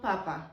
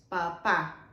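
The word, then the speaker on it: papá: And papa, papa. It's not papa, it's papa, which is that.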